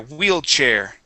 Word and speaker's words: wheelchair: wheelchair okay all right let's talk about that CH sound okay uh you're saying whe share pronouncing an a CH or sorry an sh sound okay the CH is similar but it is a a stronger sound okay it's a puff of air we say CH